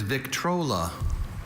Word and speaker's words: Victrola: Vital, your word is Victrola. Victrola? Victrola. May I have all the information? Victrola is the only pronunciation for this trademark.